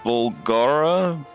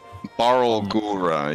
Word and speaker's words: Barlgura: I believe the creature is called a Bulgara. I think I'm saying it right. Barlgura. Barlgura. Yeah, there you go.